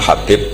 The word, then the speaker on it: Habib: yang nulis Abi Abdurrahman Habib assulami itu di harakatnya kitab itu ada yang nulis hubbi Yang benar Oh gigih yang benar itu bacanya habib habib itu asulami itu ikut